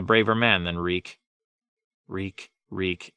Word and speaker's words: Reek: man then reek wreak reek it rhymes with weak Ramsay had a new